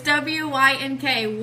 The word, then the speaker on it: WYNK: And you have to wink when you say it like that. It's it's WYNK, What You Need to Know, 2017.